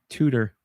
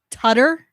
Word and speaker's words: Tutter: Tutor. Tutor. I'm shocked. Bear in a big blue house. Tutter. Oh, is it? Well, this is spelled tutor. Well, it's Tutter.